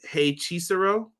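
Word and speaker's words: Hechicero: Quills has it pronounced, is it Hey Chisero? Does that sound better? Yeah, that sounds right.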